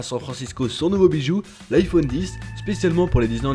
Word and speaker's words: iPhone X: il faut savoir que le x bien que présents sur les publicités et sur le site internet d'apple ne se prononcent pas il faudra donc pas de ce nouveau smartphone comme l'iphone 10 en tout cas c'est